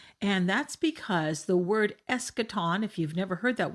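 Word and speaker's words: eschaton: the eschatological discourse and that's because the word escaton if you've never heard that word before is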